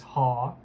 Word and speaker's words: họ: Last name in Vietnamese is actually pronounced as ha.